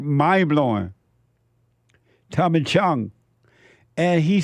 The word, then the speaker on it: Chong: Chong.